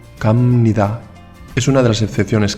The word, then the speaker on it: 갑니다: Atención, si habéis prestado atención a esa B, os habréis dado cuenta de que la he pronunciado como una M. 갑니다, 갑니다.